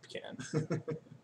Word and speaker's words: pecan: I took a lot of mythology classes though, so Pecan pie, pecan pie. it's pecan. It is. It is pecan.